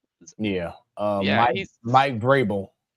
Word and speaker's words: Vrabel: Vable. Yeah. Um Mike Vrabel.